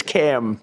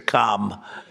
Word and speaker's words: Kamala: It's Cam, right? Cam as opposed to Com.